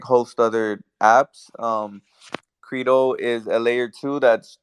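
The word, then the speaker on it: Qredo: there are so many one of them was Credo which is spelled q r e d o Credo it's a layer two that's building on ethereum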